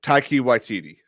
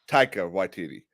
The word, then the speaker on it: Taika Waititi: pray that I say his name right taka Taki waititi taika taika waititi I am so sick of people saying that